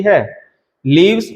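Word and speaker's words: whorl: ठीक है, इसका प्रोनाउंसिएशन आप जैसे होल जो वर्ड है उससे भी आप इस तरीके से, दोनों का प्रोनाउंसिएशन सेम ही होता है, हॉल या फिर हॉल।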